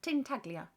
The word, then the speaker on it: Ting Taglia: Ting Taglia. Ting Taglia. It's not unpronounceable at all. I wasn't trying hard enough before. Ting Taglia. Like tagliatelle, but with a ting at the start.